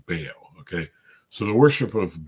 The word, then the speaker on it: Baal: And the worship of Baal, now I know the right way to pronounce it is Baal, but in English we usually just say Baal, okay?